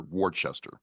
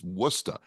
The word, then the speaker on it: Worcester: you know mistress I I first pronounced Worcester Worchester everybody does and you know I was like you freaking what are you saying it's wora anyway I I do